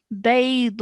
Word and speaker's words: بيضاء: But make sure you're stretching the da sound out for at least 4 seconds, okay?